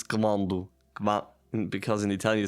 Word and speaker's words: quando: But yeah, so I know in the first episode I said quando, but it's quando.